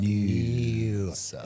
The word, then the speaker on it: Noosa: More Noosa. It needs an N-E-W-S-A. If they could spell it properly, I'd be so much happier with them.